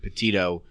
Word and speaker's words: Petito: Gabby Petito, that's how you say her name, Petito story, which initially, when that came out, for me, it was like cut and dry, boyfriend.